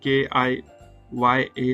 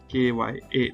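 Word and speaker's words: きゃ: ठीक है, जैसा हमने देखा क्या जो था, तो उसका प्रोनाउंसिएशन KIYA ना होके KYA था, हुआ था।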